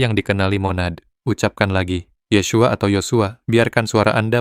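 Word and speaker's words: Yeshua: Nama aslinya adalah Yesua diucapkan Yesua. Tiga suku kata Y, bukan Yesus Yesua.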